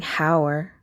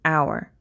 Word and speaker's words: hour: me move this over it's not a vowel but so this is an exception right when when you say our are you pronouncing the h you're not saying hower right you're saying our so because the it